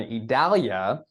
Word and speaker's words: Idalia: eye storm it's a little bit tricky one idalia Jose I believe it's Katya is how it's pronounced Li Margo the end storm is Nigel